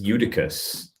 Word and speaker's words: Eutychus: the funniest one is eutychus because it rhymes with uterus and i think that's